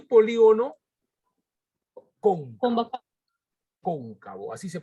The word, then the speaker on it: cóncavo: el polígono polígono convexo y polígono con bombas cóncavo así se pronuncia con un cabo ya polígono convexo o